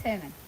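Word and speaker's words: Germán: the same thing and thought his name was German as well. Ah. But it's Herman. The G's pronounced to H.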